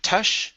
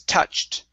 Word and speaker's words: touched: to the word touched make sure to pronounce that t sound instead of tou okay it's touched touched okay very good uh